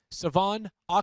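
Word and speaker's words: De'Von Achane: yes Dolphins running back I've completely butchered his name a couple of times uh up to this point Savon oan and I apologize for that that that's how you pronounce it properly it's not fonetic so to speak so but he is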